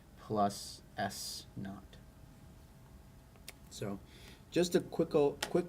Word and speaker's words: naught: pronounced V naught plus s naught so just a quick quick couple of notes Here on the pronunciation V with a little 0 here is pronounced V not like naughty but without the Y and then S 0